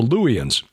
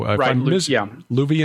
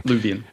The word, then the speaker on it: Luwian: People called the Luwians, Luwians, and I've also heard it pronounced Luvian. So Luvian is correct? Right. Okay. Luvian.